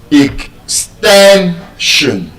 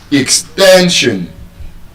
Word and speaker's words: extension: If you look at the way you are pronouncing the word ex- ten- shun The last syllable is s i o n. And so, the stress will be on the second to the last syllable, which is the ten. ex- ten- shun And so, when you speak your voice your voice should reflect that stress.